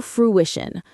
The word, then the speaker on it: fruition: Come to fruition. Stress on the second syllable of fruition.